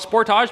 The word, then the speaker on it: Sportage: It's Sportage, not Sportage, you say. And to that I say, this is a Canadian Kia channel. We call it Sportage because it rhymes with portage, which is what we